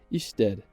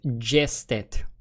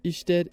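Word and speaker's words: Ještěd: Afterwards, we're going to head to the north of the country to visit Isted. Now, located right near the Isted. I was about to pronounce it Jested.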